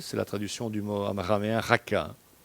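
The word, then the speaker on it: raca: la traduction du motaraméen raka raka c'est un en hébreu c'est un c'est la lettre vous devez la prononcer de manière guturale donc en prononçant ce terme c'est comme si vous crachiez à la figure de votre interlocuteur Jésus dit si vous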